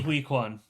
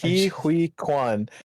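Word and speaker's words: Huy Quan: Hui Kwan. Yeah, Hui Kwan.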